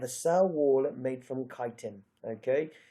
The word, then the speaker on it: chitin: and they have a cell wall made from kiten okay not from chitin or however else people won't pronounce it it's kiten protoctista it's just one thing you have to